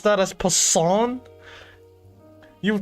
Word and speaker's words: Poisson: So it's the same energy as croissant then.